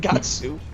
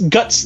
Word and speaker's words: Guts: If it's a foreign name, katakana is just doing what it can. It's not supposed to be directly pronounced Gatsu.